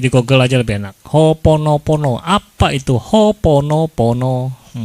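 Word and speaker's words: Hoʻoponopono: lagi kan Ya sudah hooponopono ya Ada o-nya dobel tapi kan bacanya hoonopono apa katanya please please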